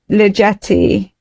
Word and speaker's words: Ligeti: Georgi Ligeti.